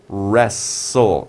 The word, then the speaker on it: wrestle: you have wrong r wrestle and it's t l e you know say tulla right we say rest soul wrestle it's like you don't even pronounce the t wrestle the t is